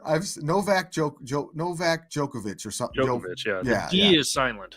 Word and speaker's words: Djokovic: no vac joke Novak Djokovic or something no yeah D is silent yeah the the Big D in front is silent so he's going down